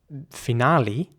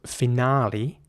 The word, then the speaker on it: finale: Anyways, the British English pronunciation is again with an R sound, so finale, R, and in American English it would be finale, so with an A sound again, finale.